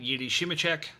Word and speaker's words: Jiri Simecek: And today's spotlight, Yiddi Shimichek, does both.